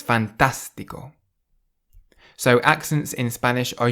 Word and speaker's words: fantástico: So you say fantastico rather than fantastico or fantastico. It's fantastico.